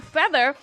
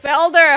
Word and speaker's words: Felder: Feather. Am I saying it right? Felder. I'm saying Feather.